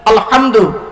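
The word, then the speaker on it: الحمد: বলি আলহামদুলিল্লাহি রাব্বিল আলামিন আলহামদু এই গলার ভেতর থেকে হেটা উচ্চারণ করবেন আলহামদু মানে হচ্ছে সমস্ত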